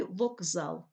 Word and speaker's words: вокзал: дзвінким уподібнюється за дзвінкістю у слові вокзал к звучить як Ґ під впливом дзвінкого сусіда з у слові футбол тлухий